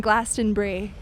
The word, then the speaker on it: Glastonbury: We've decided on Glastonbury, like the cheese.